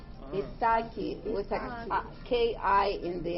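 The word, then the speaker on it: Ιθάκη: It's a Greek island, Oh, and it's called Ithaki. Oh. Ithaki with a K-I in the end.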